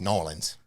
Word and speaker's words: New Orleans: Is it New Orleans or New Orleans? What's the cool way to do it? It's Nolans. Nolans.